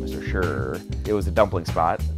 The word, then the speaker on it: Shi: By far, our favorite restaurant in Beijing was this place, Mr. Shi, or as I think the locals would pronounce it, Mr. Shur.